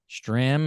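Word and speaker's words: Strahm: the same way uh Matt Strom strim if you want to pronounce it that way every time he comes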